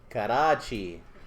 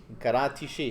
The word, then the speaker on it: Karachi: I go ahead examples karachi karachi come on all right karate she yeah there's no cha in arabic so you always see it as a combination of tat and Sheen like sandwich sandwich all